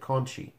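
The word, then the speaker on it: Conti: time era Conte and they they pronounced it Conchie and I'm like well if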